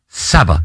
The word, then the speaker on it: Sabah: Aston Villa at home for Barcelona, Sporting away, Feyenoord at home, Galatasaray away, Como home, and Sabah, rhymes with Abba, away.